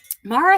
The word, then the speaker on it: Mara: Is it Mara? Kind of a soft A? Mara? I knew that, but I'd forgotten. Thank you for reminding me. Mara, have you gone to any of the Gresham crochet meetups?